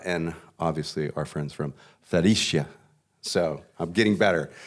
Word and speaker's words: Fredericia: Brioni, SumUp, SunGod, and obviously our friends from Fredericia. So I'm getting better. The Italians want to pronounce it as Fredericia, so we've been all a little confused there.